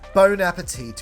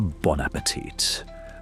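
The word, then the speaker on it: bon appétit: Yeah, bone appetite. You ungrateful It's pronounced a bonapetit, but unoverlookly error because of better.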